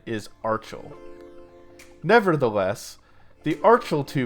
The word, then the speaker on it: Archel: the name of this amp series as the Arkell pro but apparently the correct pronunciation is archaeal nevertheless the article - pro is a good